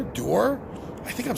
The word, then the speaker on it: Duhr: I know it's Duhr the U is pronounced like the double O like June sound so you are door I think I'm saying